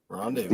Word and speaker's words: rendezvous: Rendezvous. Rendez Vows. Yeah, I think it's a silent Z.